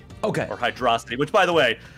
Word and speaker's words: Hydrocity: and uh more like Hydro City okay or hydrostity which by the way I asked uh how do you pronounce and he said hydrocity his his uh very